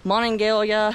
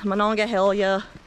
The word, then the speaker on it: Monongahela: nobody likes to pronounce it's pronounced in multiple ways and how everybody just crams it together i pronounce that monongahela i don't know how do you guys pronounce it mononga hell yeah but it's been pronounced on monongalia mononga helia monongahela it's got all kinds of names but however you pronounce